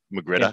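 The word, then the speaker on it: magrittr: So ironically, R, I think the proper pronunciation is ah. So Magritta.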